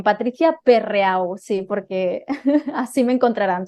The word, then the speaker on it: Perreau: Bueno, vamos a pronunciarlo bien. Bueno, pero para que me encuentren mejor, lo has dicho bien, Patricia Perreau, sí, porque así me encontrarán, si no. Exacto, Perreau.